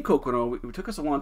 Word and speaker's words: Coqueron: making but the name kokono it took us a long time to figure out but what we think it is is his pronunciation of cook room we think it was